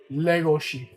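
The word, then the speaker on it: Legoshi: Oh, let me do it the Japanese way. Legosi is that that's how they say it in the actual Japanese.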